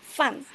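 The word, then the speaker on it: 饭: Empat. Empat yow fun gitu ya. Jadi aku enggak mau ada yang ada yang salah-salah lagi nih kalau ngomong fun. Heeh. by fun. Fun. Ingetin fun tuh harus ada empat.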